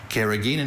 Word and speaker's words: carrageenan: Carrageenan has been added to processed foods since the 1950s and has no nutritional value, although it may help fight infections.